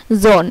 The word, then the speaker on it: Sohn: যেমন জোন, এই যে SOHN জোন, এখানে কিন্তু এইচ এর উচ্চারণটা হয় নাই, এখানে ও এর উচ্চারণটা হইছে।